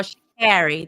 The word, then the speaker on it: Sha'Carri: Or Sha'Carri, that's how she pronounces her name.